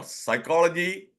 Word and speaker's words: psychology: strange pronunciation you know psychology no tsunami that P silent why do you need a p there without P also if